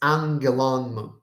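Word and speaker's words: ἄγγελον: the last Omicron and in fact we we read this as angelon okay this is called this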